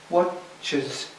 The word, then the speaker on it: watches: We go down to here and up to here. Watches, so that it's audible.